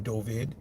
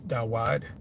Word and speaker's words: Dovid: And what we're seeing today is the very thing that the Rabbi Dovid, that's the how you pronounce his name, Dovid. In ancient Hebrew is Dawad. Some would say David.